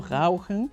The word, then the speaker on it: rauchen: Rauchen, no es Rauchen, es Rauchen, ¿no? Y en verdad es una cosa tontísima, pero simplemente el hecho de cambiar la R a la R alemana ya mejora mucho tu dicción, la gente te entiende más.